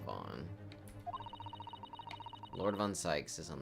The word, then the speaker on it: van: Yeah, I think it's spelled V-A-N, like van, but I'm pretty sure it's pronounced Vaughn.